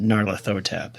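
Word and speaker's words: Nyarlathotep: Pronounced Narathotab is who Chaos is based on.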